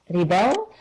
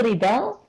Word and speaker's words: rebel: I noticed that the pronunciation of rebel, to rebel, To that rebel. is different than Rebel.